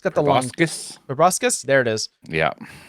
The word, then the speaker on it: proboscis: It's got the long Proboscis?